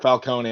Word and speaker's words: Falcone: And it's pronounced both ways. Okay. All I right. can accept Falcone and Falcone.